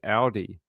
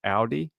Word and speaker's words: Audi: Australia we pronounce it Audi. Um, sort of like the supermarket. Aldi, but with an L. You say it with a U, like Audi.